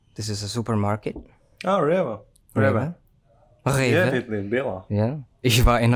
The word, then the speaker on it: Rewe: Ah, Rewe.